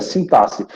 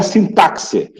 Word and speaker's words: sintaxe: Olha como é que se pronuncia sintaxe. Não é sintaxe. Isso a gente vai estudar hoje. A pronúncia de algumas palavras. Então, o X, tá? Sintaxe. Então, ele não tem som de CS, de KS, né?